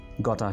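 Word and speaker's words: gotta: सो आपने इसको quickly pronounce करना है, गटा गटा गटा। यहां पर टी पर थोड़ा सा ज्यादा स्ट्रेस दीजिए।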